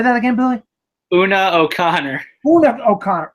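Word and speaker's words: Una O'Connor: route woo O'Connor I don't know how to pronounce her name oh no Connor yeah say that again Billy Oona Oh Connor oh that's Oh Connor Oona O'Connor uh maybe it's my writing I screwed up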